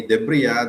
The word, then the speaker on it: debris: Debre that is silent s.